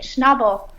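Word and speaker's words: Schnabel: Like, how do you pronounce it? Schnobble.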